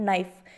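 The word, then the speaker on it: knife: Roman लिपि में उसका लिखने का तरीका के से होता है, यानी कि उसका शुरुआत लिखने की के से होकर होती है, लेकिन उसको पढ़ते हैं हम नाइफ, यानी कि के है वो एक साइलेंट वर्ण है।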